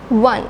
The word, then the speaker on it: one: this O sound, but we do not pronounce this as O. We just say one. When we say one, we have to make the sound like doubling W sound.